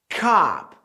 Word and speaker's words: cop: Cop, cop. Força esse A.